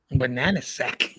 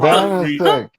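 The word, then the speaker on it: Banaszek: Banana sack. Banana sack. Let me see. I'm pronouncing it wrong. Banana sack? What the? Hold on. I'm Banazak.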